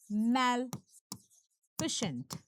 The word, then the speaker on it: Maleficent: देखिए, यह है मैल फिशेंट। इसकी प्रोनाउंसिएशन क्या है? मैल फिशेंट। मैलफिशेंट। ठीक है?